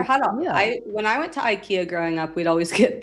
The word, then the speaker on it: IKEA: Ikea. If you're speaking Italian. What? That's how they pronounce it. That's how the they Swedish say meatballs, IKEA.